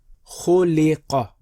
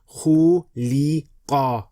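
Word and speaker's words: خُلِقَ: Khuliqa. Khuliqa. Khuliqa. Again, do not stretch. Don't say khuliqa. No. Khuliqa. Khuliqa.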